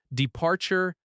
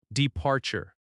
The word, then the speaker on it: departure: departure and arrival departure Stress on the second syllable. de-par-ture arrival a-rri-val Stress on the second syllable again.